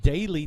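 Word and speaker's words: Dailee: That is Daly Taylor. A couple Dailies, but this is spelled D-A-I-L-E-E.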